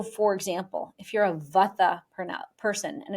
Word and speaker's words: vata: So for example, if you're a vata person and in the west we pronounce it vata, a vata person is going to be made up of the elements of air and ether.